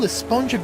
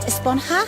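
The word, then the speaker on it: Esponja: And that's what this whole Espongja Grande thing has been about, huh? Actually, it's pronounced Esponha with an H sound at the end. Really? But we've all been saying Espongja.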